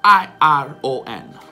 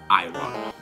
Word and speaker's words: iron: Prima di tutto, la R è muta. Sì, in America, che ne è in Gran Bretagna. E la pronuncia è iron.